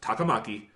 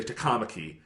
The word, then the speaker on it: Takamaki: see the name and I know Japanese pronunciation. And I know that's Takamaki. Yeah. And they'll say Takamaki.